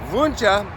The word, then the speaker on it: Wunsche: Wunsche is how you pronounce it in German.